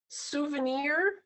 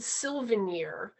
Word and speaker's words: souvenir: Like souvenir, they always said Sylvanier.